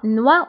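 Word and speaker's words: noix: بالنسبه هنا اكس لا ننطقها، دونك نوا هو الجوز نوا.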